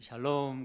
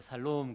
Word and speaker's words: 샬롬: 발음을 잘 하셔야 됩니다. 실제로 옛날에 얼마 전에 어떤 목사님이 암에 걸려 죽어가는 불신자인데 이 단어를 모르는 사람입니다. 그런데 목사님이 샬롬 그랬답니다. 암에 걸려서 죽어가는 사람한테 살롬 그랬는데 그분은 목사님이 나를 살롬이라 그러네, 살아날롬, 그렇게 알아듣고 그 믿음을 가지고 열심히 기도해가지고 암이 나았대요.